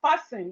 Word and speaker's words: fasten: We have fasten. The T in fasten is silent.